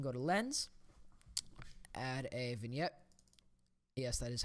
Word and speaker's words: vignette: then you can go to lens add a vignette yes that is how you pronounce that it's vignette you can go ahead